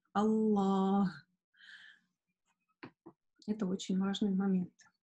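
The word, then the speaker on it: الله: Но, тем не менее, несмотря на это, многие сестры забывают, как-то не задумываясь, произносят ее без алиф, да, то есть, например, Аллах, Аллах. Нет, у нас там есть алиф. Аллах.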